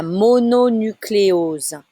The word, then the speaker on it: mononucléose: La mononucléose. La mononucléose. You need to say every syllable separately on this one.